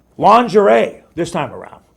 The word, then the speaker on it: lingerie: Lingerie. You know, and it's spelled, let's go back to that one here. Lingerie. How does that sound like lingerie? I would put like a lounge airy for lingerie.